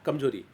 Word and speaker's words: कमजोरी: जी हाँ, र पर हम लोग क्या करते हैं, र को, र का हम दीर्घ उच्चारण करें, कमजोरी, न कि कमजोरी। यहाँ पे क्या लिखा है, कमजोरी, लेकिन उच्चारण क्या होता है, कमजोरी।